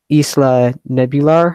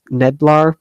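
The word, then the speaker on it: Isla Nublar: The storyline is the legend of Isla Nebular, I believe it's Neblar, it's pronounced, something like that.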